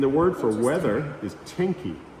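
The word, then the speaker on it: 天気: And the word for weather is tenki, Tenki. Of course, it's not ten because they don't use English, but it's the Japanese characters that are pronounced tenki.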